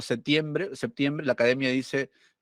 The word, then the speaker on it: septiembre: aquí me plantea algo la pronunciación de p se dice se relaja considerablemente en el grupo PT situado en el interior de la palabra pero solo es normal su pérdida en séptimo y septiembre o sea por más